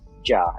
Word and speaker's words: Jia: Global team um so in Chinese GS pronounce ja in Chinese and my co-founder she's